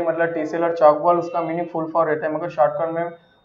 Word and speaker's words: Tchoukball: Maharashtra player में हमारा, तो चौक बॉल में टी साइलेंस होता है, टी साइलेंट रहता है, बाकी सेंटेंस पूरा ही